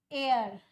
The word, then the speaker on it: heir: Here word air. The spelling is started with H but the pronunciation is air.